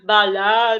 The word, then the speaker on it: бала: Ребят, обращаю внимание, как я произношу буковку А. Я не просто ее говорю, там, например, бар, бала, там, например, да? Я немножко округляю свой ротик и говорю немножко как похоже на О.